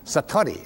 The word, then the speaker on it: satori: it's called Satori I'd love to say that Satori s a t o r i and it